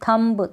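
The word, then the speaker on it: thumb: यहाँ पर अगर एम के बाद जितनी भी स्पेलिंग है उसमें अगर बी आएगा तो प्रोनाउंस नहीं करेंगे। ऐसी काफ़ी सारी स्पेलिंग्स आपको मिल जाएगी, जैसे बॉम्ब हो गया, थम हो गया, थम म पे ही रुक जाना है आपको, बी यहाँ पर नहीं बोलना है।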